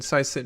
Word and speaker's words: PsiSyn: It's PsiSyn. You got it? PsiSyn. No. Yeah, PsiSyn. Hey. No, don't pronounce a P. Just Psy. Like there's no P.